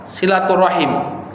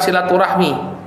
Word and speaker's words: silaturahim: yang berkaitan dengan makna silaturahim Jadi sebenarnya dalam bahasa Arab itu yang tepat pengucapannya adalah silaturahim silaturahim ya atau silaturahim enggak panjang silaturahim Jadi bukan silaturahmi itu bahasa Indonesia ya itu sudah diadopsi ke